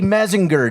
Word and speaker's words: Mellinger: Oh, I did say Mellinger, didn't I?